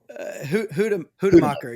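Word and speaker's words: Hoedemaker: And is it Hodemacher? Is that how you would pronounce his name? Hodemacher, yeah.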